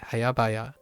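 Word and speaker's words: 早々: it's hayabaya, right? Hayabaya. I totally had the second syllable incorrectly.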